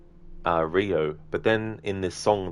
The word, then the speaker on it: Rio: stream uh it's pronounced Rio like Neo but replace the N with an R yeah that's the funny thing cuz um I I used to always say uh Rio but then in this